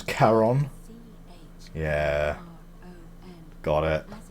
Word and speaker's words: Charon: It's just as you described it, only your pronunciation is a little off. The name you heard wasn't Karen. It was Charon. C-H-R-O-N. Yeah. Got it. As in Charon, the ferryman of the dead.